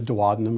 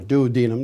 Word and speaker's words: duodenum: stomach into what's called a duodenum or duodenum depending on what pronunciation you love and the duodenum or dwanum does not like acid